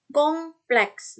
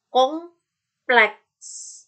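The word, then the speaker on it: complexe: Lanjut, kompleks. Nah, hati-hati ya. Mingkemnya bukan di M, tapi di P. M-nya nggak mingkem. Kong. Ya, nggak mingkem kan? Kong. Mingkemnya di P. Kompleks. Kompleks.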